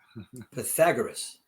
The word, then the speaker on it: Pythagoras: say what is it Pythagoras Pythagoras thank you I'm gonna have lots of trouble with that and Accent on the second syllable I'm Pythagoras yeah there you go